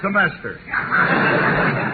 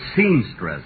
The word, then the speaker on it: semester: This is his third semester. Oh, Phil, say that word again, will you? Semester. Say it once more. Semester. You know, folks, at rehearsal, he kept pronouncing it seamstress.